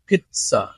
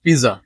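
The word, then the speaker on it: pizza: restaurant not restaurant restaurant and then number six পিচ্চা পিচ্চা নট পিজ্জা পিচ্চা পিচ্চা women women not woman singular form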